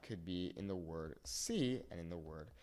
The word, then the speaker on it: si: So an example of that could be in the word see and in the word see, okay? These are both pronounced exactly the same, but the first one,